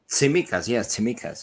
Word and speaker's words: Tsimikas: Do I pronounce his name right, Marios? Tsimikas. Tsimikas, yes.